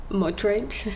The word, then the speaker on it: Madrid: clumsily try to say Madrid? Madrid. Is it Madrid? Is that am I is that the local pronunciation?